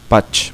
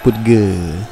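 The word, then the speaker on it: Pudge: Pouch, bacanya Pouch sih sebenarnya. Kalau orang Indonesia baca putge, ya udahlah, sama aja.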